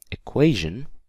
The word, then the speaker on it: equation: behind and we have equation equation yes the stress is on that qu a equation okay then we